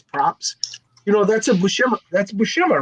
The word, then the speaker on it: Buscema: You know, that's a Buscema. That's Buscema, right? I don't know. You got the damn label right there. What's the label say? Yeah, John Buscema. Yeah. Bushima? Buscema.